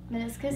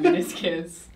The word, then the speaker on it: meniscus: Meniscus?